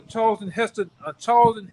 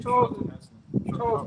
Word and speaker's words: Charlton Heston: You gonna really gonna have a Charlton Heston moment. How do you say his name? Charles Heston.